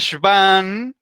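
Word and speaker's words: Schwann: si van aquí tenemos la consonante w que la pronuncian como una uve theodore y van entonces como las células de serván que milk inicia en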